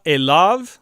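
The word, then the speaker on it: אֵלָיו: Vayikra elav, this is the preposition el plus the third masculine singular pronominal suffix, to him. Elav, and the yud is not pronounced.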